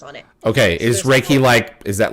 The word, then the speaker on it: Reiki: Is that how you pronounce that? Or Reiki? Reiki.